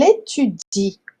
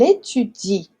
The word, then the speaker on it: étudie: com isso daqui, porque, embora tenha o E no final ali, a gente não pronuncia esse E.